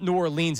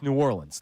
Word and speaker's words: New Orleans: It's not New Orleans, it's New Orleans.